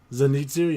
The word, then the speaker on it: Zenitsu: listen, we're gonna get to the characters and stuff, but I have to know, was however the fuck you say his name, Zenitsu? Zenitsu, yeah.